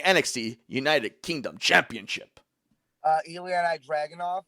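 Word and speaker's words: Ilja Dragunov: united kingdom championship uh eliana dragon off is that how you say it yeah he'll take the title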